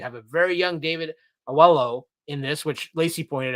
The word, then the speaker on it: Oyelowo: So it's Oyelowo. Oyelowo. Okay. It's yellow between two O's.